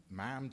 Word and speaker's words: ma'am: sure that we called her ma'am to rhyme with ham, not harm, to make sure that we did a little bow, etc.